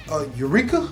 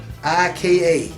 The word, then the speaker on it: Arika: They are teaming up with Eureka. I think I said it right. Arika.